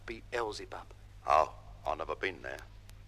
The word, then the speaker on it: Beelzebub: That's pronounced Beelzebub.